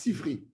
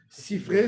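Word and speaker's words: Sifre: Les Ashkénazes, ils prononcent mal. Ils disent Sifri. C'est une erreur. Il y a Sifra. Sifra, c'est le livre, le Sefer. Sifré, c'est au pluriel en araméen.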